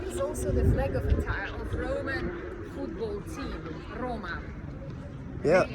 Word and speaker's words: Roma: In Italian pronunciation is Roma.